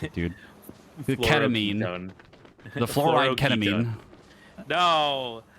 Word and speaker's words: Fluoroketone: Fluorocatone. I don't even know how to pronounce it, dude. The ketamine. Fluoroketone.